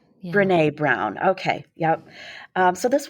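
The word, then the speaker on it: Brené Brown: So I I came across this quote from I'm not sure if I'm pronouncing her name right. Is it is it Breny Brown? Oh Bnee Bnee Brown.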